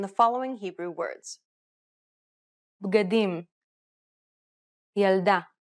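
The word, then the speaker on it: ילדה: Correcting this is very easy because most Hebrew words are stressed on the last syllable. Pay attention to the stress pattern in the following Hebrew words. Bgadim, yalda, lilmod.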